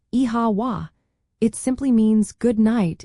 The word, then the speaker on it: Oíche Mhaith: Well, if you hear the phrase Oíche Mhaith, pronounced like Iha wa, it simply means good night in the Irish language, also known as Gaeilge.